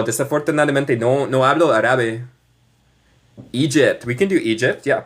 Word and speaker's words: Egypt: Esto es como deletrea Egipto. Y se pronuncia. E gypt.